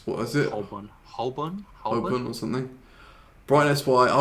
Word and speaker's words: Holborn: I would have pronounced it Southwark as well. Yeah. Also, what's it? Holborn is not Holborn. It's what is it? Holborn Or something.